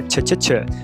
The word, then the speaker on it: nature: Nature. Não, a pronúncia não é nature, não é t, é tch tch.